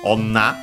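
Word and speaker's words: 女: By the way, the opposite, woman, is onna, accent on the last syllable also.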